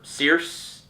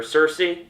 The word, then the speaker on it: Circe: But in terms of Wonder Woman, her villains are Circe, or Circe, sometimes people say it as. It's spelled with C's, not, it looks like Circe, I don't know.